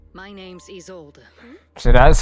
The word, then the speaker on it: Isolde: My name's Isolde. So that's how you pronounce her The name.